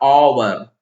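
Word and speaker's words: hour: देखें तो आप देखिए अवर का उच्चारण क्या हो रहा ओवर ऑनेस्ट माननीय ये सारे हिंदी में वावेल्स हैं और वॉवेल यानी स्वर्ग ध्वनि से इनका उच्चारण हो रहा है और ह का उच्चारण यहां साइलेंट है यह साइलेंट तो जब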